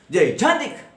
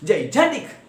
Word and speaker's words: gigantic: Gigantic. That's the way it should be pronounced. Gigantic. Yes, we give more stress or force on the second syllable Jan.